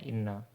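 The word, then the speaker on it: إِنَّ: Kalau di atas berarti dia anna, kalau di bawah bacanya inna.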